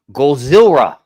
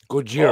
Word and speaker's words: Gojira: You You got to say it right, Scotty. It It's Gozilla. Gojira. Oh, yeah. Gojira. And that's See, that's funny because in in Japanese, Cojira is whale.